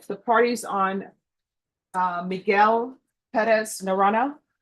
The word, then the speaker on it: Perez: All right, the party's on uh Miguel Perez Narona. Yes, sir. I know I keep pronouncing the last name different every time, Deputy Laura. No, that that was very good, it's Perez.